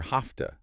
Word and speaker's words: have to: And related to have to, we often hear hafta.